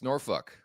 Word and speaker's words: Norfolk: It's Norfolk.